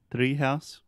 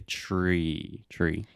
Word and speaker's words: Treehouse: alexia initially said three three house which is like a Portuguese pronunciation you want to say tree tree yeah I'm ready tree